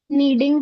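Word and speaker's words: kneading: आटा गुथना हाउ टू से in English नीडिंग the dough या नीड के साइलेंट है नीड द डो इस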